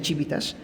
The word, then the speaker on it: civitas: El origen de la palabra ciudadanía proviene del latín civitas, que se escribe civitas, o sea, con C, pero se pronuncia civitas, que significa ciudad, es decir, de ahí proviene del latín de la Roma antigua.